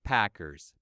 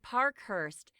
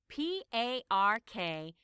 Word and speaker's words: Parkhurst: Chase Packers, baseball player. That's him. But actually, the reporter got his surname wrong. It should be Parkhurst. That's Parkhurst.